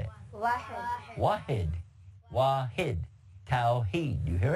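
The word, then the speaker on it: واحد: Wahid.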